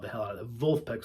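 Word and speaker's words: Vulfpeck: Wolfpack, spelled with a V, like Wolfpack, but it's German, Wolfpack. They're fucking great.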